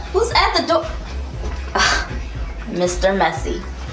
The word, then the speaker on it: Messy: Messy. It is pronounced Messiah. But it's spelled like messy.